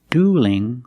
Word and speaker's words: dueling: Duel with a dark L and dueling with a light L, because the L is between vowels in the word dueling.